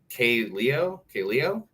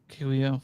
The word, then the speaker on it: Kaleo: Oh, man, I'm gonna mispronounce this. K-Leo. Yeah, I know what you're talking about. Yeah, Kaleo.